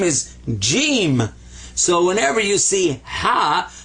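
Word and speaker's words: جيم: His name is Jim. So whenever you see ha, but he's got this, that's Jim. And so this is the sound of an H. This is the sound of a J, ja.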